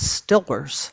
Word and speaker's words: Steelers: Even God, that goes back, and the Steelers, which of course you can only pronounce as Stillers.